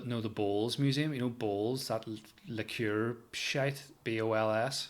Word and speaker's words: Bols: You know Bowls, that liqueur shite. BOLS. It's spelled.